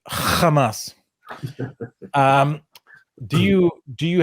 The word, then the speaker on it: Hamas: cited was um Hamas um sorry I pronounce it correctly Hamas um do you do